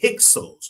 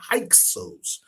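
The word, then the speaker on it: Hyksos: Those outside invaders were the Hixos or some people pronounce it the Hixos. H Y H Y Ksos, the Hixos.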